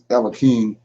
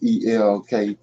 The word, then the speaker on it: Elkanah: So yeah, so I'm gonna deal with this Elikim Elkanah. I can't really say his name. It's Elkanah, and his wives.